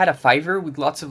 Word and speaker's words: Fiverr: yeah what pronounced no oh Fiverr and how did you think it was pronounced fever oh fever like like the when you're sick okay I get it